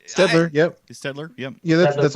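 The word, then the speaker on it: Staedtler: Stedler? Is that how you say that name? Stedler, yep.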